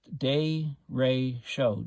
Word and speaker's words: derecho: the storm arrived so directio pronounced day ray show day ratio day ray